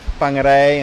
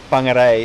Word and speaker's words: Whangarei: Whoever's not from New Zealand and you're seeing us saying these words like Whangarei and Whakatane, anything with a WH in the Maori language is pronounced as an F, like Whangarei is WH and Whakatane also WH.